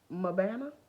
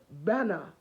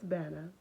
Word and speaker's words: Mbana: So I was like, I'm Mabana. And he was like, no. I said, well, am I Mbana? He was like, no, it is Banner. The M is silent.